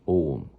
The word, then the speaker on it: Ogham: It's called Ogham, O G H A M.